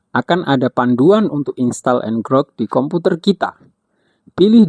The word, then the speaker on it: ngrok: Diucapkan "ngrok", bukan "ngerok".